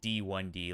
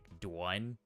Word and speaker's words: DwunD: yeah eventually and yeah it's pronounced like D1 D like the first one or you can pronounce it like dwne like uh the character